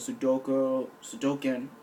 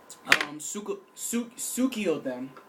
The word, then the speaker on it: Suikoden: The whole classic Konami series of Sudoken. Need some drink. Suikoden, pronounced it.